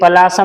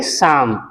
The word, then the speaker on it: psalm: CALM काम, PSALM शाम, इसे पलासम नहीं पढ़ेंगे, इसे केवल पढ़ेंगे शाम।